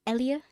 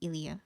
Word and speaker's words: Ilia: sympnosis starts here so is it elia did i pronounce this right elia i i pronounce her elia ilia okay but apparently i do it wrong that but that's how i've always pronounced it in my head is elia it's okay the writer is always right you you pronounce it as ili it should be ilia okay right so ilia